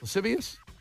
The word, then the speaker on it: lascivious: lasus L how do you say that lasus lascivious what that word I can't see it Brian spell it out l a s c i v